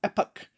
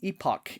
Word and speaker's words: epoch: step closer to the epoch index or maybe the epoch index i've heard it pronounced both ways epoch um pronounce it as you will it's we don't have